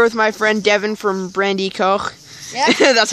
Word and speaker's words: Brandi.Koch: today I'm here with my friend Devin from Brandy Co that's how it's pronounced apparently um go check out his channel